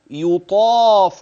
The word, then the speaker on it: يطاف: فانتبه، اسمع: يو يطا يطاف عليهم.